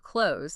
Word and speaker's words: clothes: So yeah, in fast speech, clothes almost never has a clear final ths sound. It usually sounds more like close.